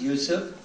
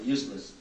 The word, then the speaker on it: Yusuf: My name's Yusuf. Can you say Yusuf? You know, I got it right first time. My wife still pronounces it useless.